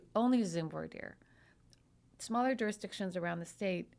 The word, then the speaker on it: voir dire: maybe in Louisiana they vaire you're saying it wrong it's vier well you know